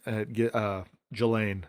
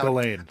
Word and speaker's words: Ghislaine: Ghislaine. Oh, wow. Or Ghislaine. I don't think I've ever heard it out loud. Ghislaine. Okay, so on the first day of her trial, I like to say Ghislaine, but like 3 major CEOs left their positions.